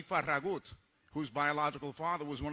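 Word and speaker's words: Farragut: an United States Navy David faragate or more accurately pronounced David faragut whose biological father was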